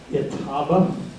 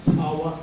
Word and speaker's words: Etowah: And then from there they went down to Itaba, chieftain of Itaba, Etowah, Tawa, Etowah. It's the same name, just a slightly different pronunciation.